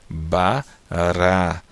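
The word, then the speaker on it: ברא: Então fica aqui a letra Bet, o som do B com A, Ba. Depois a consoante vogal aqui, o som do Resh com A fica Ra. E o som da Aleph é muda, você não pronuncia. Então aqui nós temos a palavra Bará, tá?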